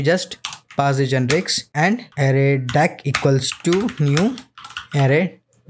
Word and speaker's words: ArrayDeque: ended queue or array deck yes it is pronounced as array deck jack so what is error deck and how